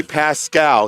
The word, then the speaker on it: Pascal: Let's see, we've got John Gatzmeyer, Dominic Rizzo, Frank Deline, and Jeffrey Pascal. He came over and he pronounced it for us.